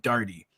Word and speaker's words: Daugherty: Someone's running, is it Daugherty or Daugherty? It is neither. We insist on the third, even more difficult, even less common pronunciation of Daugherty.